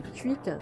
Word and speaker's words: Quick: Nous sommes donc chez Quick, ou plutôt chez Quick, comme le prononcent les Belges francophones.